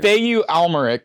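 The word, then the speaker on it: Mathieu Amalric: you say his name Matthew is that the guy who play like a weird spelling of Matthew matu alarick plays Dominic green he's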